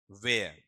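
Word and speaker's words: where: जी वेय इसको उच्चारण बोलना। डब्ल्यू एच ई आर ई बोलना वेय है नहीं बोलोगे। ठीक है? वेयर वेयर। ठीक है? इतना ही बोलना आपका वे और ए है साउंड इसमें नहीं आएगा।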